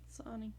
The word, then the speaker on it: Sawney: Well, Sawney.